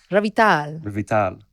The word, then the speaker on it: Revital: I want to get the emphasis on the right syllable. Revital.